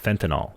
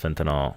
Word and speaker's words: fentanyl: case in point, heroin is often mixed with fentanyl, a chemical that has 50 times more potent than morphine.